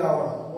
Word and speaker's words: hour: The H at the beginning of hour is silent।